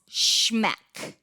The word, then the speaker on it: SHMEC: He came up with this acronym that he calls SHMEC, and it's spelled SHMEC.